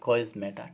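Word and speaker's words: chiasmata: जो संरचना बनाई जाती है उसे कहते हैं इस प्रकार से लिखना है कोइज्मेटा। क्या कोइज्मेटा ठीक है? स्पेलिंग इस प्रकार से सी एच आई एस एम ए टी ए कोइज्मेटा।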